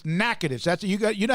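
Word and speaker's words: Natchitoches: louisiana from naked louisiana it's not spelled that way that's the way it's pronounced aj joins us on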